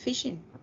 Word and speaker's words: phishing: hay un modelo que se llama phishing, más o menos. No, tal vez lo estoy pronunciando mal, No, está pero perfecto, es phishing.